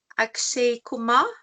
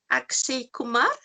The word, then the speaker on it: Akshay Kumar: know that you like akshay kuma do i say it right akshay kumar yes what research is so